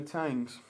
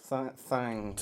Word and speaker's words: Thangs: You spell it like Thangs, but the H is silent. It's actually kind of... Well, according to the board, blurred. it's smudged out, so maybe it's the finer Thangs.